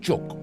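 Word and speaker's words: 粥: It also has many names, including kanji, a word from India, and juk or zhou from the Chinese. If Chinese, I say zhou. Juk is the Cantonese pronunciation. Mandarin is zhou.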